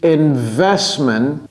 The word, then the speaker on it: investment: The profitability of the investment, vous voyez que je n'ai pas prononcé le T.